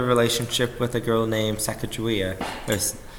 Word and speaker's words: Sacagawea: also developed a relationship with a girl named Sacagawea there's sir kagawea depending on pronunciation she was a 17 year old girl